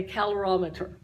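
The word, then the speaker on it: calorimeter: there's a device called a calorometer calorometer that's fun to say like francisco c-a-l-o-r-i-m-e-t-e-r a calorie meter it's a calorometer that's how you say it and this is a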